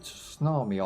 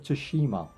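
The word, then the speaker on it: Tsushima: How do you pronounce that game? Ghost of uh can't see the title. Ghost of Tsunami, I call it, but it's not. It's Ghost of Toshima and Rise of the Ronin.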